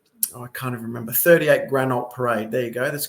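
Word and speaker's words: Granault: 38 Grand 38 Granite will spell it for you. This is great. Get to show people. So, G R A N A U L T.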